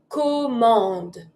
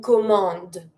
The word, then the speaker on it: commande: If you want to say an order, it's une commande. Une commande. Don't pronounce the last e. Une commande.